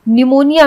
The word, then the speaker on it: निमोनिया: निमोनिया में P silent होता है। निमोनिया अधिकतर लोग सोचते हैं कि निमोनिया एन से होता है, NEUMONIA निमोनिया होता है, लेकिन निमोनिया पी से स्टार्ट होता है।